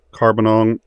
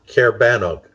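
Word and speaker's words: Caerbannog: uh five dollars uh killer rabbit of uh carbonong uh did you take fluffy to the vet yesterday Cara uh Cara benon thank you um uh because of sneezing still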